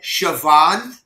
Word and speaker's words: Siobhan: this female Irish name S I O B H A N Savon. Oh yeah. Siobhan. No, I've heard I've heard it pronounced with a V.